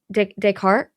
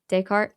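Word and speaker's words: Descartes: Wait, how do you say that? I already forget. Decart, she says. D E S C A R T E S. Decart. Yeah, Decart.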